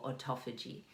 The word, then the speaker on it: autophagy: We can do, well, not two types, but there's fasting to lower your insulin, and there's fasting for autophagy. Autophagy, which for about 2 years I pronounced as autophagy.